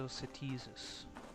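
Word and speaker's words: Setisis: The long syllable is the T, so Setizus. The emphasis goes on the T.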